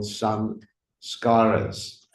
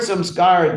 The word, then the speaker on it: samskara: So the word samskara doesn't mean ceremony, for those of you who want to know. The word samskara is composed of actually three syllables, but two parts, sang and skara.